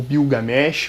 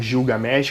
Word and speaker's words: Gilgamesh: O Épico de Gilgamesh, ou Bilgamesh, ou Gilgamesh, que seria a pronúncia em português.